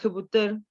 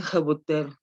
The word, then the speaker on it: Hébuterne: Me cuesta mucho trabajo pronunciar el apellido de Hébuterne porque es así como de esos apellidos franceses muy guturales, y ya ven que en el español no usamos mucho ese sonido.